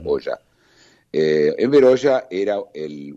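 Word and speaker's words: Hoxha: se llamaba enver Hoya se escribe oxa h o x a se pronuncia Hoya eh enver Hoya era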